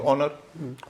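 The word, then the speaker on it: honour: उसको होटेल बोलते हैं ओनर योर ओनर स्पेलिंग में एच है बोलेंगे ओनर नर नहीं बोलते हैं आवर जो घंटे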